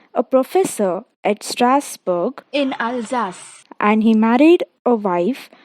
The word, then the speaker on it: Alsace: That is the name of a place, and you pronounce it as Alsace.